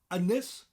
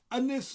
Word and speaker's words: Ynys: Ynys Môn.